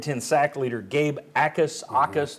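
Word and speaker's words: Jacas: Aus. The J is silent.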